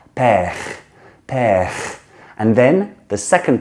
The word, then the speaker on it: père: It's not per with the in the front of the mouth like we do in English. Like in Britain, we say per, and in America, per, more rounded. It's père, père.